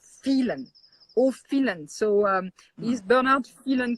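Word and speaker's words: Phélan: Like Phelan is actually Irish. Even if there is an accent on the E, it originally back in the mid 19th century, it was Phelan.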